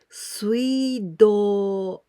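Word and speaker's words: 水道: Together with this kanji is water, mizu, but we pronounce here sui, suido, suido, waterworks.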